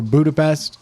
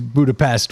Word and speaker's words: Budapest: the podcast yes so the proper way is budapes yeah and then there's Budapest which is how we Americans yeah because apparently there